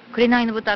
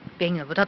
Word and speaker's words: 紅の豚: ておりますねくれないの豚って読んじゃいそうなんですけども便の豚と読むそうですはいではこちら